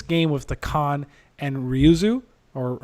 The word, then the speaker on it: Ryuzo: way with this game with the Khan and Ryuzo, or how do you say it? Am I saying it right? Ryuzo.